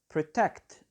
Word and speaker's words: protect: syllable minimize we have protect the stress is on the second syllable authorities the stress is